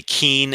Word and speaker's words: Keene: And very clearly, Keene is Keene. So regardless of how they may be pronounced the same in parts of New Jersey, Keene is Keene. We will allow Kane being Kane because that's how they say it.